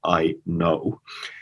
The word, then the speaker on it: Aino: roots there but also if you are pronouncing that in the usa so it's i know why we started this